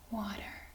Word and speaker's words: water: it's almost the same water yep but remember the a is pronounced as ah yes so that great excellent